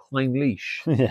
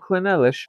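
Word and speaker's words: Clynelish: what you want is some Klein leash not clish Klein leash we got the pronunciation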